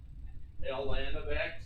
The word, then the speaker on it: ln: its own special notation okay so this is pronounced ln of x so we replace log base c with ln